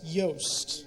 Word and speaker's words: Yost: No, my last name is pronounced Yost.